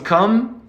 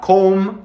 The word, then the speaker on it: come: cry goodness no buttons come listen to that word it's not comb it's come come come buttons come and buttons